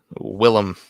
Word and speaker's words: Willem: Also been pronouncing it wrong for like 2 years. Willem. There you go. Willem.